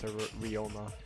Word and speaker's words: Ryoma: So that's how it's actually pronounced, as Ryoma.